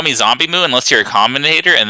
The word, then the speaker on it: ZomBmu: So it's and even back when it was just zombie, people would pronounce it as zom, like the word bomb, and so on.